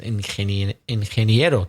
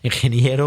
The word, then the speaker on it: ingeniero: but the engineer is ingeniero. Difficult for us to pronounce. Ingeniero or ingeniera. Ingeniero. It's difficult.